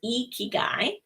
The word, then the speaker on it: ikigai: of it before it's actually a japanese word ikigai that roughly means your reason for being and it's pronounced ikigai and um once icky guys found where the